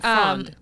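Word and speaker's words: frēond: That's the old pronunciation, frond.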